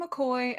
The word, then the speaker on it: McCoy: shower so I'm McCoy if you take a look at the spelling the the pronunciation might not match up with the letters there um but we just